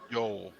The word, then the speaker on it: Eol: Yol, like Oh, Yol. It is spelled EOL. Yol, just like old Yol.